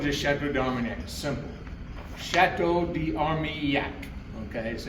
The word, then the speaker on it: d'Armailhac: Chateau de Armyak. Okay. So, you take that A and that I and that L and turn it into a Y and it becomes pretty easy phonetic.